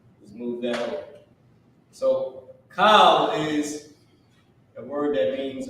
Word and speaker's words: Kal: Kal meaning all. Okay, K-A-L, not like C-O-W.